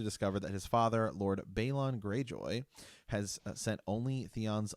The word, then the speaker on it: Balon: Martin, he calls him Balon. Yeah. Which is really interesting. We've been blasted before for our pronunciation of characters. Like the show does it one way, the audiobooks do it another way, George does it another way, and so we will be calling him Balon.